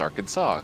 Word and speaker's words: Arkansas: But pronounced Arkansas, because Yeah. the French named that one.